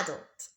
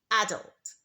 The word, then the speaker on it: adult: so she's not a child she's an adult so in British English when we say this word the stress is on the first syllable adult adult but in American English the stress is on the second syllable so we say adult